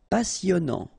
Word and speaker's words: passionnant: Okay, here you pronounce the double S because you've got a vowel, so it's really a strong one. Passionnant. Final T not pronounced. And then here you get this en sound.